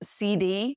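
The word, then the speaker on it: cedis: is called CD c e d i s pronounce CD now I would normally recommend that you get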